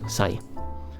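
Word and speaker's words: 歳: Okay, and they're both pronounced sai.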